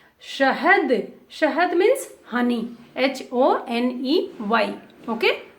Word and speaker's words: शहद: शहद, शहद, बड़ा स is there, so we will not pronounce sa. We have to say sh. शहद, शहद means honey.